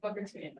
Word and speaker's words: Mukertumian: My pronouns are she, her and my name is pronounced and then my last name Mukertumian. Just like that. Okay.